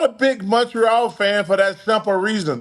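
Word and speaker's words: Montréal: Hey, man, were you in Montreal? They don't pronounce the T. Weren't you in Montreal last night? Montreal, oui, Chuck, oui.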